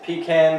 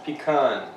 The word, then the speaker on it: pecan: You want to know, is it pecan versus pecan? Right? How do you pronounce it?